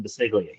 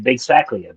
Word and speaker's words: Basiglia: lived up in Washington, just had the hardest time pronouncing Basiglia. He couldn't do it. And he kept saying he would announce races and he kept saying Big Sakia, Big Saca, and it got shortened to Big Sack and it stuck.